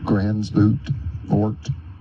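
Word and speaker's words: Gansevoort: Grant Cottage National Historic Landmark in Gransvoort, New York. You can pronounce it Gansevort, New York.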